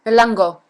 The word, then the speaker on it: Elango: elango like what elango elango elango right elango actually does uh sound like it's spelled elango great So Lisa does